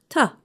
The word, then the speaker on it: to: When we say it quickly, the word to is pronounced ta, I like to.